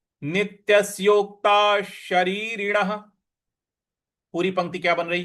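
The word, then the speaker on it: नित्यस्योक्ताः शरीरिणः: तो नित्यस योक्तास योता ता के बाद जो विसर्ग है उसका उच्चारण हमें श ले आना है क्योंकि उसके आगे श लिखा हुआ है। शरीरण का श लिखा हुआ है। तो पूरा पद आपका बन रहा है। नित्यसोक्ता शरीरण नित्यसोक्ता शरीरण पूरी पंक्ति क्या बन रही है?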